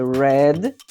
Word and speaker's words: read: Ora, eles são idênticos ao presente, perceba o verbo read, e no passado a pronúncia é read, tá?